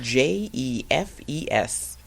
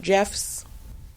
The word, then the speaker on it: Jefes: Is spelled Jefes. And it's not Jeff's.